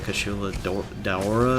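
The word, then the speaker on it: Kushala Daora: I believe I think it's pronounced the Kashula Daora or some.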